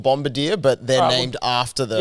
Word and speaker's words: Bombardier: oh no a bomb a bombarder or like Bombardier as it's spelled uh it's a military